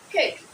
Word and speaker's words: cake: However, some Africans have challenges with this A sound. It's pronounced as letter E, as in E, like this. Just like this. But the standard form is A, cake.